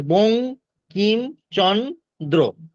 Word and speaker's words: বঙ্কিমচন্দ্র: বঙ্কিমচন্দ্র, বং আমরা উচ্চারণ করছি, বানান না।